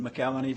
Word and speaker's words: McElhenney: I pronounce it McElhenney because I'm Irish, not Scotch.